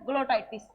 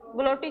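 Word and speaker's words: glottis: ग्लोटिस क्या बोल सकते हैं इसको, ग्लोटिस, सॉरी ग्लोटाइटिस नहीं, क्या बोला जाता है इसको, ग्लोटिस बोला जाता है।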